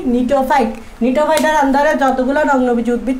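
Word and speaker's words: Gnetophyta: এটা হচ্ছে সব, দেখো জিটা উচ্চারণ করতেছি না, নিটোফাইটা উচ্চারণ করার সময় কি বলতেছি, নিটোফাইটা।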